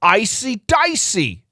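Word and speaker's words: AC/DC: I want some Icy Dicey. I need some Icy Dicey." Now, Tyler Swift, do you know icy dicey? It's the Australian pronunciation for ACC.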